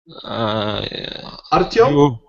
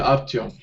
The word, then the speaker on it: Artyom: How do we pronounce your name? Artyom? Yes, you pronounce it right. Okay, Artyom.